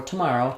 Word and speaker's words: tomorrow: sound but it's not it's tomorrow tonight today so we have awah there so for tomorrow t and then we have the stress falls on the second syllable ma with the a vowel and then lastly the o w does say o like in no or snow so we have the O dip thong so toor tomorrow um so again when